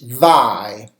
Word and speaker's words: vie: Another word is vie. It's spelled V-I-E.